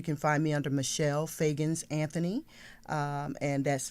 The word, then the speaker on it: Feagins: I think you can find me under Michelle Fagans Anthony, and that's Fagans, well, Michelle, MICHELLEFEAGINS.